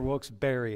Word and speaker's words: Wilkes-Barre: Wilkes-Barre or Wilkes-Barre?